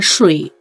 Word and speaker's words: 水: ก่อน เรา ซือ เป็น คน นึง ที่ ออก ว่า สุ่ย แต่ จริง ๆ แล้ว ไม่ ใช่ ถ้า ใคร ยัง รู้ สึก ว่า เฮ้ย ตัว เอง ยัง ไม่ มั่น ใจ กับ คำ นี้ ว่า จะ ออก เสียง ยัง ไง ใช่ ป่ะ ให้ ทุก คน ห่อ ลิ้น ซื่อ อุ้ย สุย เอ ซื่อ อุ้ย สุย ลูก ป่า มัน จะ ต้อง เป็น อย่างี้ สุย กับ สุ่ย สุ่ย